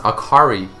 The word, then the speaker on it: Akali: other games and animes akali is pronounced akari in Japanese meaning light bright cheerful